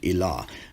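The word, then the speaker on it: إله: And this word is pronounced Elah in Jewish Aramaic, Allah in Eastern Syriac, and Alo in later Western Syriac. And all these terms are equivalent to the Arabic word Ilah, which is, again, the general word for deity.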